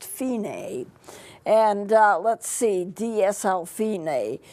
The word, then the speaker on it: Fine: F I and II like fine but it's not pronounced fine it's pronounced Fein a and let's see DSL